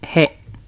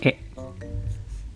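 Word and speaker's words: へ: Ini harus kita kelompokin kata kerja perpindahan ini karena nanti mereka menggunakan partikel yang sama yaitu partikel he atau dibacanya e.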